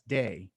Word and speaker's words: Te: And the Tao is expressed in the world as day. It's spelled T-E-H.